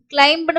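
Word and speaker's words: climb: கிளைம்னு படிக்க கூடாது, பி வந்து சைலண்ட் கிளைம்.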